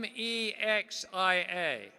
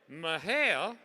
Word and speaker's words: Mexia: from Texas or not because if you say Mexia that's a dead giveaway you're not from Texas now if you say mahel okay you're close but Texans say it this